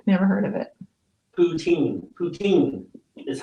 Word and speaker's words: poutine: Poutine is how you say it.